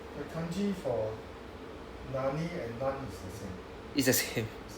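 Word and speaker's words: 何: Alright, so I will say The kanji for nani and nan is the same. it's the same. It's the same. But the thing is, the pronunciation differs because of the word behind it.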